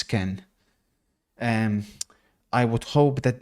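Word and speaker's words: Kean: you say his name it's not keen it's Ken um I would hope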